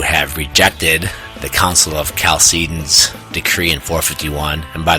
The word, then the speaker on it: Chalcedon: And by the way, sometimes I heard it pronounced Chalcedon. I don't know. I took a Eastern Orthodox theology class when I was at the University of Michigan. I think that guy, the great John Meyendorff, pronounced it Chalcedon.